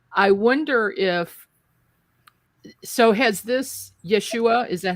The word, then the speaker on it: Yeshua: I wonder so has this Yeshua, is that how you pronounce it?